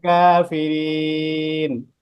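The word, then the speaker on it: الكافرين: ফামা হিলিল কাফিরিন, কাফিরিন তিন আলিফ টান। ফামাহিল কাফিরিন। কাফটা একটু কফের মতো হয়ে যাচ্ছে, কাফিরিন।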